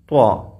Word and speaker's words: ط: ത എന്നത് വേറെ രൂപത്തിലാണ് ഉച്ചരിക്കുന്നത്. എന്നാൽ ത്വാ എന്നതോ വായ നിറച്ച് ഉച്ചരിക്കുന്നത് മാറിയുണ്ട് അല്ലേ. ത്വാ.